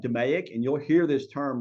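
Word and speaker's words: DMAIC: the last part is demic Define measure analyze and proove control um I pronounced that demic and you'll hear this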